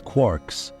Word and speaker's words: quarks: referred to these subhydrronic fragments as quarks rhyming with poor.